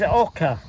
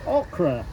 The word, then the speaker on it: oca: Now, people are going to say ocre. I'm not talking about ocre. I'm talking about oca. Oca is spelled o c a.